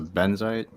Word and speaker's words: Benzite: to pronounce it Champion one's a benzite that's correct I was putting an extra syllable in there and I wasn't positive I passed all right Mercer your turn I'll take uh for 200.